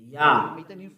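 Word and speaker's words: יה: Yah. According to the Hebrew, when you see this word, it is read Yah in Hebrew.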